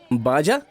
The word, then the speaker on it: Baja: अच्छा, वो सुना है तुमने BAJA, उसे कैसे बोलते हैं? बाजा। बा बोलते हैं उसे।